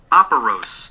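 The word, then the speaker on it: operose: day so today's word of the day is operos operos operos is spelled o p e r o s e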